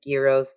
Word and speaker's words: Gyro: Zuff is the Goliath and Gyros the Dragonborn. Yes, okay. Correct. Man, you couldn't make Gyro the Goliath GG. No. He's a Dragonborn because it rhymes with Spiro. Get it? Gyro, it's Spiro, Dragon, Dragonborn.